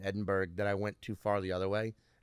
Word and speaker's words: Edinburgh: I would try and pronounce it like a Scottish, and people were like, it's Edinburgh, Edinburgh. It's really not that hard.